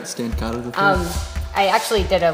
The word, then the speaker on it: Stancato: Good friend Stancato III. Yes. Am I pronouncing that right? Yeah, that's right. Stancato III.